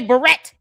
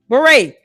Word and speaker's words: beret: She wants to say barret. Let her say it. Never mind is it's just butchering the word beret. Candace raspberry beret. Good lord girl. Even Prince song can help you understand how to pronounce that word correctly.